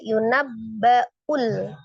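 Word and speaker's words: يُنَبَّأُ: Yunabbaul. Hati-hati ya, itu Hamzah. Jadi bacanya jangan yunul yunul tapi yunabbaul ul ya diperjelas hamzahnya insanu situ ada nun sukun bertemu dengan huruf sin ya.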